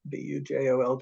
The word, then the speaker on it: Bujold: The surname is Bujold, Bujold. It's pronounced with the French J, not the Spanish Bujold. I can always tell when somebody's from the West Coast because they try to say Bujold. It's Bujold.